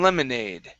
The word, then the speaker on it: lemonade: next is make some lemonade okay now here remember the e is silent on make and lemonade okay so this is